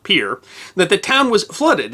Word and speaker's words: Pierre: In March, the river had risen so much in Pierre, and yes, it's spelled Pierre, but trust me, Dakotans call it Pierre, that the town was flooded in 4 to 6 ft of water.